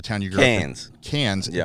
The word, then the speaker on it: Cairns: Cairns, yeah. But it looks like Carnes. Yeah, it's not Cairns. It's Cairns.